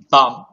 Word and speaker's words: bomb: silent letters silent letters bomb Christmas answer School here you can find out my dear friends b-o-n-b here the last B it's silent the color it is